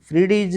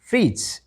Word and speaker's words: fridge: ठीक है, जैसे वो आपके सामने शब्द हैं बेड्स, BADGE, बेडेज नहीं पढ़ेंगे इसको, बेड्स, FRIDGE, फ्रीडीज नहीं, फ्रीज, डी साइलेंट।